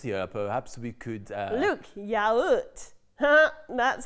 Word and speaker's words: yaourt: Look, yaoot. That's how you say yogurt. Which is also sometimes pronounced yogurt.